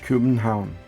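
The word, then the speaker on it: København: city of Copenhagen or as it's pronounced in Danish Cuban town which I hope it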